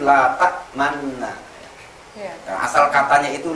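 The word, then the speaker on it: لَا تَأْمَنَّا: Bacaan kalimatnya itu la ta'manna.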